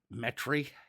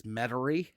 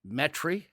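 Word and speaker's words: Metairie: go up to metri that's how the locals call it metry put that southern inflection on yeah if you look at it on a on a it it if you look at it how it's spelled it's mety but metri um and uh right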